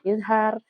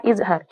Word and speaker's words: izhar: Baik, yang pertama adalah izhar. Idhar itu artinya jelas. Maka huruf nun sukun atau tanwin bila bertemu huruf salah satu daripada izhar itu dibacanya harus jelas.